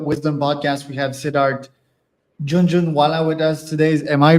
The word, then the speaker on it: Jhunjhunwala: We have Sidart Junjun Walla with us today. Am I pronouncing that right, Sid? No, no, you're exactly right. That's Junju Wala.